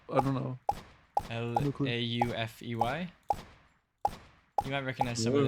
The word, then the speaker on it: Laufey: she's the person that it's spelled like Laufey, you know? Oh, I don't know. No clue. Laufey.